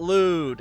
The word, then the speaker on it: Lud: Apparently, we're going through Planet Lud and yes, that is how you pronounce it.